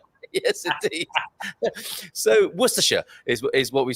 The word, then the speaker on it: Worcestershire: thing to say or as you might say warcester yes indeed so worcestershire is what we say in the uk and